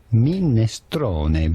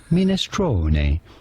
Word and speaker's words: minestrone: Minestrone, but it'd be fine in English to say minestrone.